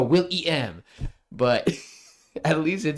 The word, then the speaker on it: Willem: more than most people people sell my name with the E and yet they still go William he probably go will maybe he go Willem but at least it